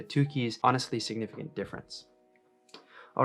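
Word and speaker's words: Tukey: bonferroni adjustment and another is it two keys or two k's i don't really know how to pronounce it i think most people say two keys honestly significant difference all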